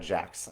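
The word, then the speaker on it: Jacques: Yes, Michelle, there is a fantastic game shop called One-Eyed Jocks, or One-Eyed Jacks. I think it's spelled Jocks, like the French version, but it's One-Eyed Jocks, One-Eyed Jacks in Richmond, Virginia.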